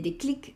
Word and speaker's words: déclic: un objeto indirecto, le déclic, ese déclic, aquí se pronuncia la C, es como a darle ese impulso, ¿vale?